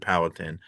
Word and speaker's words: Powhatan: I'm just saying we grow up saying things locally and we use the phrase, we would pronounce it Powhatan around here.